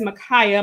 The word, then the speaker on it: Micaiah: speaking truth to power i saw a different pronunciation of his name but i've only known it as makaya my entire life so if you haven't pronounced differently respect to that our bible basis is